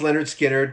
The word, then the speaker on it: Lynyrd Skynyrd: with disaster y'all um but pronounced Leonard skinnard came out in 73